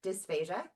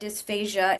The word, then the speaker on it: dysphagia: And then what we hear all the time, dysphagia.